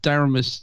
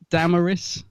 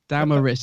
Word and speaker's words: Damaris: LaVine Richard Franklin and daramus oh I can never say her name right let me get it right I was doing that all day as well uh Damaris Damaris is it hymon who